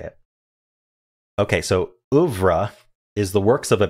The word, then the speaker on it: oeuvre: Okay, so oeuvre is the works of a painter, composer, or author regarded collectively.